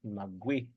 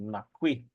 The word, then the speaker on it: nagui: And the word rest would be nagui. Nagui. Nagui. Or in the Pyramid Lake area, they pronounce it with a K. Nakui.